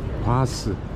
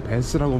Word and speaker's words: Bath: 바스. 바스라고 발음하더라고. 우리는 베스라고 발음하는데.